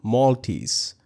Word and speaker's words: Moltys: They call them Maltese, that is spelled Moltys, named after the platform's lobster mascot.